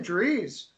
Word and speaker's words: Dries: Sheldon Dries has got great analytics. Dries, I think, is actually how it's said.